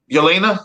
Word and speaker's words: Yelena: I always get her name wrong because it's kind of Yelena. Yelena.